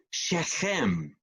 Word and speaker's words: Shechem: Sabe o que quer dizer o nome Siquém? No hebraico, a pronúncia é Shechem.